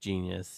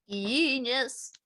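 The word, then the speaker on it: Jeen-yuhs: I watched the 3-part documentary to, I believe it's pronounced Genius, even though it's spelled weird. Genius. Genius.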